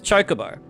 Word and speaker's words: Chocobo: So me and my friends would always say Chocobo. Oh, it's a Chocobo. Let's ride the Chocobo. We didn't realize it was Chocobo.